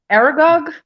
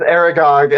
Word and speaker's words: Aragog: part with um is it probably going to mispronounce the name like argoth the the spider the giant spider aragorg yeah sorry i'm so bad with names um with aragog and like him dying and everything and him